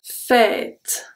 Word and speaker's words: fête: TE, we pronounce only the T. Une fête.